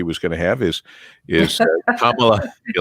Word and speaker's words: Kamala: It is Kamala, like is in using a comma. Kamala Harris.